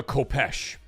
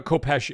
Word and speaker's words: Khopesh: Look what a Kopesh is. It's spelled Khopesh.